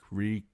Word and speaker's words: Reek: My name is Reek. It rhymes with leak. In the dark, he did not need a name. So it was easy to forget. Reek, Reek, my name is Reek.